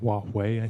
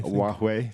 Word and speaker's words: Huawei: know if you've read this ongoing saga with who why if that's how it's pronounced Huawei Huawei thank you I'll brush up on my Chinese